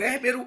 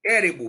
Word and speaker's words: Érebo: com Gaia, Cronos, o Érbero é uma espécie como se fala? Peraí. Érebo, perdão, Érbero não. Érebo.